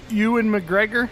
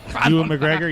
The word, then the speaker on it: Ewan McGregor: The guy that played Obi-Wan Kenobi in the Ewan McGregor, I think is how you say his name. Ewan McGregor, yeah.